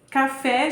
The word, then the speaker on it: café: as três letra C café jiló guaraná então Café tem como sílaba tônica a última né que é o fé jiló é o ló